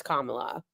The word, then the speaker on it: Kamala: We know it's Kamala.